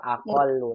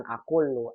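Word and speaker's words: أقل: Aqallu, sahih, bukan aqullu, aqallu, asanti.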